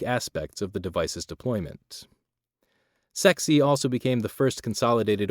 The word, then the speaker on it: CEXC: a combined explosive exploitation cell or cexc pronounced sexy dubbed the csi of